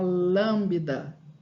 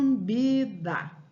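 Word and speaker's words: lambda: essa letra em grego ela se chama lambida não lambida é esse bebê é mudo o letrinha nós mudou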